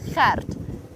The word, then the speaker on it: Gert: It's that G sound. So it's not Gert, we don't say it Gert, it's Gert. And you have to roll your R slightly to get it absolutely right. Gert.